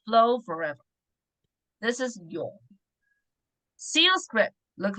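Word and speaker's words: 永: This one means pronounced as yong, means forever. So you can see from the CU script, it is like a river have branches and it's flow forever. This is yong.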